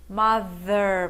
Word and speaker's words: mother: pai, mother é mãe, cuidado com a pronúncia, father, mother, você tem que colocar a língua entre os dentes e assoprar, mas esse TH aqui é voiced. As cordas vocais vibram se você estiver pronunciando da forma certa.